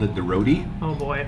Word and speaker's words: roti: My friends used to love it when I called it the roti. Oh boy. It's a roti, but you have to pronounce the T.